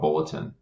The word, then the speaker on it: BLTN: Yeah, so we are building a information sharing platform that's called Bulletin. We spell it BLTN because if you're a tech company, you have to remove letters to make things exciting and interesting.